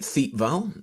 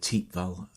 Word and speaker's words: Thiepval: as Matt just just said um it's the te Val Memorial because it's on the te valal Ridge uh notice the pronunciation it looks like th Val um but it's actually pronounced T valal here um it's a memorial to the missing